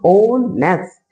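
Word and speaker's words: honest: You just forget what here the written here H, ठीक है। एच को अगर भूल जाएंगे तो यहाँ पे ओ से स्टार्टिंग होगी और ओ नेस्ट, ओ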